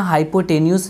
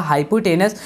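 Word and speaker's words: hypotenuse: बेटा इसकी स्पेलिंग याद रखना, हाइपोटेन्यूस लिखा जाएगा लेकिन पढ़ा जाएगा हाइपोटेनस।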